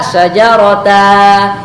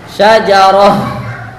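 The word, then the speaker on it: شجرة: Tidak dibaca syajarata, syajarata, tidak diganti dengan alif yang panjang, tetapi dibuang tanwinnya. Kemudian wa yuqafu ala ha'it ta'nis. Kemudian kita membacanya dengan ha ta'nis, dengan sukun. Membacanya dengan membaca seperti membaca huruf ha yang dimatikan.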